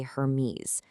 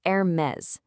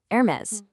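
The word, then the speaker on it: Hermès: A lot of people say Hermes, but in French, the H is totally silent, and you actually do pronounce the S on the end, so it's Hermes. Go on, try it. Hermes.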